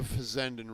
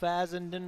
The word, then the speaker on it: Fazendin: up to be y so you're part of the fandan reality group right fazendin Realtors fazendin fazendin Realtors correct I'm sorry I mispronounced it when I I gave